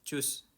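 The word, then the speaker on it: tschüss: Chus. Nah, bukan the shoes bukan ya. Tapi choose gampang. Choose chose gitu.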